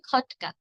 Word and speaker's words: খটকা: তো কটকা বলা যাবে না। বলতে হবে খটকা।